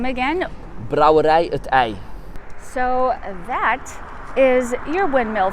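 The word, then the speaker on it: Brouwerij 't IJ: So here's Vanya to pronounce it for you. I'm sorry, can you say the name again? Brouwerij-t-ij.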